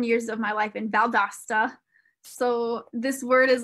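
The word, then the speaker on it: Valle d'Aosta: yes for sure and he's correcting my pronunciation to valda valdosta okay thank you thank you thank you there was an extra i was throwing an extra a in there vale dosta maybe valedosta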